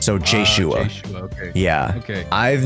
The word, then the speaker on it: Jshoea: How do I pronounce it correctly? It's Jshoea. So Jshoea.